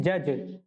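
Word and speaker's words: judge: 29 question है, इज the silent letter इन जज।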